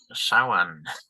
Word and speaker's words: Samhain: So, Samhain, pronounced Samhain.